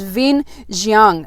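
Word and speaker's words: Vinh Giang: that that um uh his name is Vin xang uh his first name is spelled v i n h and his surname is g i a n g and I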